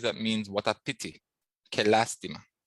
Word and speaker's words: lástima: Qué lástima. Accent on the first A.